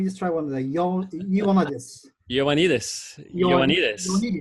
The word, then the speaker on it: Ioannidis: Let me just try one of the Ioannidis. Ioannidis. Yes, with the accent on the last syllable. Ioannidis on the next last syllable.